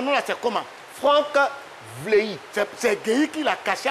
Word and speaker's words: Vlehi: C'est pas ça, donc c'est Vleyi. Voilà, c'est ça. Vleyi. Voilà, c'est ça, logiquement Vleyi.